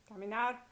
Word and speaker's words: caminar: Any infinitive, like hablar, vivir, comer, caminar, all of those are verb infinitives. They're all stressed on the last syllable.